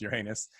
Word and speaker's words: Uranus: of aliens from uh uranus uh but it's always pronounced uranus in this film are coming to earth